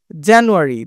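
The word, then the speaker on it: January: দেখ জানুয়ারি জানুয়ারি দেখো যা এইটা তোমার একটু জোরে বলতেছি জানুয়ারি একইভাবে ফেব্রুয়ারি ফেব্রুয়ারি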